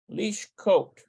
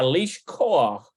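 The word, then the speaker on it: לשכוח: To forget. Lishchot. Lishkot. Let's see here. Lish. Oh, koach. There we go. Lishkoach. Yeah, lishkoach. Lishkoach. Lishkoach. There it is. Notice that it's got that het there, which is kind of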